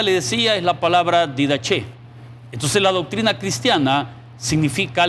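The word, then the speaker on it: διδαχή: palabra didache, que es la misma y se pronuncia didache.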